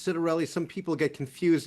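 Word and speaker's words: Ciattarelli: I you know, the last uh time that Jack Ciderelli uh ran, and remember it's Citerelli.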